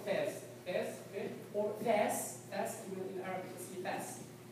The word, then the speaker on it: Fez: Is it Fez? F-E-C? Am I pronouncing that correctly? Yeah, Fez. Yeah, it's Fez.